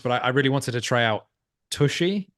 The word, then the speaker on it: tshy: But I really wanted to try out Tushy. I believe it's pronounced Tushy, Okay.